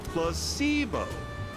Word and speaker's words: placebo: today repeat after me Placebo the stress is on The Middle syll see why placeo very